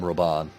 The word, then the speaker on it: Rauban: We must save Rauban. That's like 3 ways of pronouncing it there. Yeah, everyone else called him Roban, though.